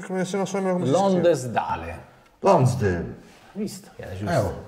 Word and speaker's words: Lonsdale: Come si pronuncia? Come se non so come Lonsdale. Lonsdale. Visto, era giusto. Lonsdale.